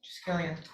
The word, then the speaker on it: Triskelion: Triskelion. Triskelion.